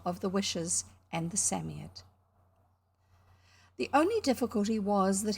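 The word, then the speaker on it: Psammead: said the knight okay so samia that robert is saying is spelt p-s-a-m-m-e-a-d and the way the knight is saying it it's written s-a-m-m-y-a-d-d yes a sort of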